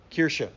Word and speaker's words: Kirche: It kind of, you see a little bit further down, the German word was Kirche. Would that be how you pronounce that, Pastor? Kirche.